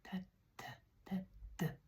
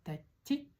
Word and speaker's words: тәтті: Сегодня мы будем запоминать такое слово, как тәтті. Вот здесь вот она как но только тоньше звучит. И вот эта буковка она как и, только тоньше тоже звучит, нежнее. Тәтті. Не тәтти, а не тәтти, а тәтті.